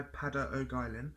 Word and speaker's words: Peadar O'Guilin: takete I then also purchased the call by pada Oak Island now I know that is how you pronounce his name because there was a series